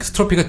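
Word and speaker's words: strophe: 그리고 캐타스트로피는요, 아래가 이게 스트로피가 뒤집어지는 거거든요. 아, 철자 불러드려야 되겠네요. 그죠? S-T-R-O-P-H-E. PH가 F 발음 났죠?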